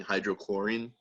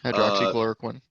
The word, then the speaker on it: hydroxychloroquine: Because basically, if you have a lawsuit where someone was hurt by like she was touting hydrochlorine, however you pronounce it. Hydroxychloroquine.